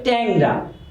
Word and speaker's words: টেংরা: যেমন ব্যাং উচ্চারণ হবে ব্যাং, টেংরা উচ্চারণ হবে ট্যাংরা, লেংরা উচ্চারণ হবে ল্যাংরা।